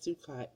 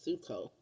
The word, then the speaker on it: Sukkot: way to say it it's not sucot it's suo so um happy suco